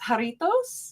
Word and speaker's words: Jarritos: It looks like, is it pronounced jarritos?